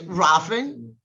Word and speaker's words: Rohlfing: It's Rafing.